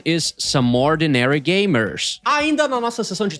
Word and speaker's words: Some Ordinary Gamers: Se tu por um acaso não conhecia esse canal, é só acessar I'm so sorry, the correct pronunciation is Some Ordinary Gamers.